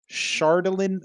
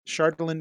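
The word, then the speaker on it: Chardalyn: sheet uh please put chardolin flay shardlin is spelled ch yeah c-h-a-r-d-a-l-y-n it's a d-8 weapon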